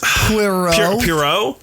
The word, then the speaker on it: Poirot: Oh, it's hard for me to pronounce. I know. It. That's Poirot.